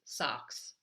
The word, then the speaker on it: SOX: the question today is what is socks not the socks that we wear on our feet but socks s Ox is how it's spelled that's the sarbus Oxley